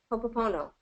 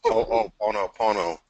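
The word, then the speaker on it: Hoʻoponopono: unique and brilliant technique, Hopopono. Am I saying it right, Andrew? Well, Hopo- we could Oh, just say hopo for short, but it's ho'oponopono.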